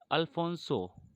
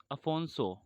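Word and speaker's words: Afonso: वो थे अल्फोंसो sorry अफोंसो अफोंसो de Albuquerque.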